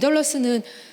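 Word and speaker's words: Dedalus: 어 주인공의 이름이 스티븐 딜러 스 라는 이름인데요 2d 덜 어스는 다이달로스 를 영어식으로 표 이렇게 발음을 한 거죠 그래서 이 다이달로스 가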